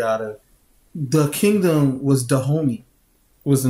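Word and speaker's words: Dahomey: basing the movie out of the kingdom was the homie was the name of the Kingdom we didn't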